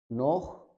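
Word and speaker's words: noch: फिर देखते हैं अगर सी एच से पहले ऊ, ओ या फिर आ जाए, ऊ, ओ या आ, तो हम इसको खे की साउंड से पढ़ेंगे। जैसे औख, नोख, बुख, नाख्त।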